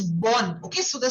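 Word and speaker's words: bonne: So that is pronounced as born.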